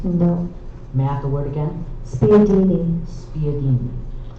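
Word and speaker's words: spiedini: Are there any alternate pronunciations? No. Math the word again. Spadini.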